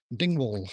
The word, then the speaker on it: Dingwall: Which is near another bigger coastal town called Dingwall, which is spelled exactly the way it sounds. Ding wall.